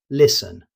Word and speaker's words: listen: You may see the T, but you won't hear it. Native speakers simply say listen.